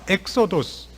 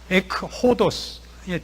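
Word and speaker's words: ἔξοδος: 그러면 그 헬라어로 하면 엑소도스 길 밖으로 그런 제목을 딴 겁니다. 탈출기가 아니라 길 밖으로 에크호도스의 준말입니다.이 저 발음상의 그 연철 효과로 엑소도스가 됩니다.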